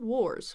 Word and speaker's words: wars: the world wars world wars wars is another tough one wars or it's more of a or sound not a are war not like car war or just like I wore some clothes World War I